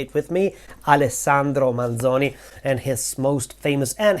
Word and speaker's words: Alessandro Manzoni: and authors by high school Italian students is alesandro manzoni alesandro manzoni say it with me alesandro manzoni and his most famous and hated book is